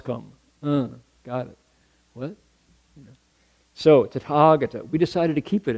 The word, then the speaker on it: Tathagata: 1, 2, 3, 4 A's in that word, Tathagata. The H is silent. So it's not ta, you don't tha in Sanskrit. You Sanskrit has all these Tathagata, right?